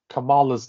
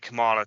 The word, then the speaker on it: Kamala: that, but dude, that's I pronounce it Kamala too. I know everyone's like Kamala, but I keep thinking of it Kamala, like Kamala Khan from Miss Marvel.